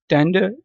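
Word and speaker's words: tender: Gentle, टेंडर, टेंडर में are silent है, British accent में मैं पढ़ रहा हूँ।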